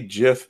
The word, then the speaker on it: GIF: I say I say GIF because of the way you pronounce the G in generation right you know that's